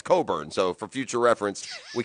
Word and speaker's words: Cockburn: they're a fabulous prospect it's not cockburn it's coburn no yeah you tabbed him as cockburn well it's spelled cockburn i thought i think